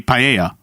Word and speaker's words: paella: But when you say tortilla, yeah, you don't pronounce the L's, so it would be paella.